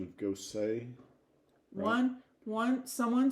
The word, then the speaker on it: Gose: the beer Style ghosts Gosa is German and is pronounced much the same way as the name Rosa with the emphasis on the o and the E making